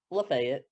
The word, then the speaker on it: Lafayette: them is uh lafayette spelled lafayette but we pronounce it lafayette yeah yeah um but a lot of that